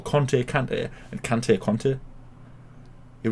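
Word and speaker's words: Kanté: called ngolor kante and literally his his name is spelled k-a-n-t-e right okay so he's ivorian so i i think um for some reason they call him conte but you know what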